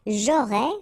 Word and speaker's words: j'aurais: J'aurais, final S not pronounced.